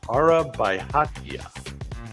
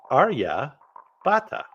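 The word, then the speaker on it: Aryabhata: Indian mathematics and astronomy araba let me pronounce that a little better Arya and that's because his name is AR Arya Bata ARA Bata his contributions to mathematics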